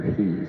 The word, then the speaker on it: Hees: Or maybe it's Hunter Hees. No, it's it's Hess. It's spelled Hees, but it's pronounced Hess.